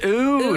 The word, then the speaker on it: oud: smells of old wood in here oh it's oud oud it's pronounced it's a certain type of fragrance that